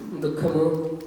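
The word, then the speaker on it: दुःख: But you need to pronounce the visarga before the ka. Dukkha. Not dukkha, but dukkha.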